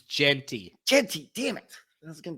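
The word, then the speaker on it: Jeanty: __ ] how do you say it it's Genty Genty damn it that's gonna Tri me up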